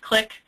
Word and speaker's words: CLIC: We have Join the CLIC, and CLIC stands for the Center for Linguistic and Cultural Competency in Healthcare, which is pronounced CLIC.